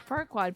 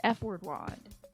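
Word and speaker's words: Farquaad: Shrek and they were dressed up as Lord far wad but they pronounced it as f word wad I was like that's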